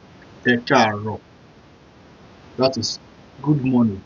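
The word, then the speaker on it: Ẹ kàárọ̀: e r o so you have to pronounce that e it's car so it's going to sound like this e Caro e Caro that is good morning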